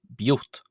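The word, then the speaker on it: ⲡⲓⲱⲧ: and that was as simply the definite article there being pronounced as b, and then the word for father being pronounced as yot, giving b, yot, biot, biot, biot.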